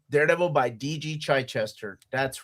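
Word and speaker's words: Chichester: Daredevil by DG Chai Chester. That's right. That's how you pronounce it.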